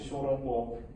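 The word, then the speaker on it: ショーロンポー: So something like xiaolongbao, which is soup dumpling, in Japanese is pronounced as shorongbo.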